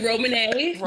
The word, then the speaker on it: Ramune: Ramune, who's from New Jersey, I think, did I pronounce it right? It's actually Ramune. You were close.